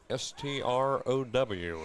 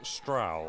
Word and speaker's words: Strow: S T R O W is how you spell his name. And some people might call it Strow, but no, it is Stra.